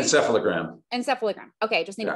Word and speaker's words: encephalogram: say that right okay almost close can you pronounce that for me correctly encephalogram encephalogram okay just need to put it together